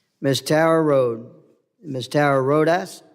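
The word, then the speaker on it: Rodas: and Refugee resettlement Miss Tara Road Miss Tara rhas how do you say your last name man rodes miss miss Tara rhas is testifying in her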